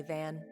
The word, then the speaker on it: Van: teeth first all right this one's on me Van van that's how you pronounce it okay thanks these little perks are